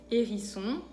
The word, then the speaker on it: hérisson: Después, la H es muda en francés, no se pronuncia.